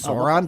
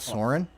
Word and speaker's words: Sauron: I think it's Sauron, by the way, not Soren. I'm pretty sure Sauron's desires, and you should say it right, motherfucker, is basically to dominate all fucking life.